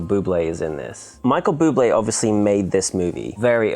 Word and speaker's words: Bublé: You pronounce it Bubé.